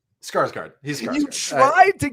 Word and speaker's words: Skarsgård: Ben Skroken. Skarsgård.